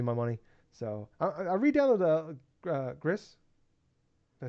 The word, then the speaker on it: Gris: is give you my money so I redownload Gris did I say it right yeah okay I